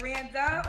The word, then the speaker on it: Randa: So, rhymes with panda. Okay. Rand. So, is it Randa or Randy?